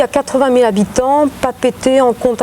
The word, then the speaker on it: Papeete: Les Français ils disent Papette, je ne sais pas pourquoi, mais... Oui, en tahitien on dit Papeete. Ah d'accord, vous prononcez le « e » à la fin, c'est ça?